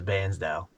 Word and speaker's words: Bairnsdale: I actually found out from one of the locals that's how they pronounce it, as Bairnsdale.